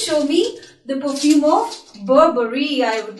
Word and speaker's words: Burberry: The right way to pronounce this word, which is very beautiful, Burberry. Yeah, the way is, actually I am having the perfume of Burberry.